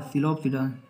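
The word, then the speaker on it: Psilopsida: सिलोप्सिडा में हमारा क्या आएगा, सिलोप्सिडा पी साइलेंट है इसमें।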